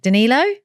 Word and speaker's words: Danilo: today the fantastic I'm going to say your name wrong Danilo no perfect right um Danilo is one of